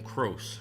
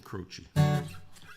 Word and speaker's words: Croce: Yes, the C is pronounced CH. Okay, that there's a guy whose name got pronounced on different radio stations so many different ways. Jim Crow. Jim Crochet. Yeah, but it's Jim Crochi.